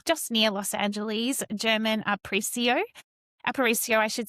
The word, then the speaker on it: Aparicio: Uh last name pronounced Aparicio. Uh if you're Yeah, you're a Spanish speaker and you roll your Rs, the proper way to pronounce my name is German Aparicio.